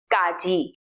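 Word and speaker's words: ကကြီး: So let's start with consonant number 1, Gaji. That is pronounced Ga. It sounds something between the English K and the English G, like the K sound in category.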